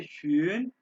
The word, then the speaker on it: schön: अब ये वर्ड देखो, यस ये है शून, शून ब्यूटीफुल, और ये है शोन विदाउट विदाउट।